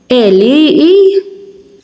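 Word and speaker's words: għelieqi: So when ein is at the start of a word, you don't hear it.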